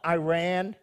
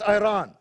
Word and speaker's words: Iran: Takes place in Persia, which is modern day Iran. Not Iran, as the Americans say. It's Iran.